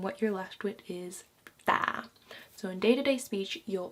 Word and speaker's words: tää: So just remember, since it's a double a, just stay on that pronunciation a little bit longer. So instead of saying tä, you would say tää, tää, tää, tää, tä, tää, tä, tää, tää kynä.